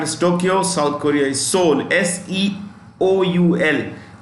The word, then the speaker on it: Seoul: South Korea is Seoul, S-E-O-U-L. The E is silent in Seoul.